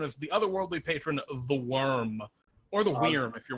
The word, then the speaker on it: wyrm: for the worm i've i've heard it pronounced worm wear uh vorm even uh i like it i like worm i like it with the vm actually but that's something weird